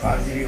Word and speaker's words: Qadiri: Qadiri order.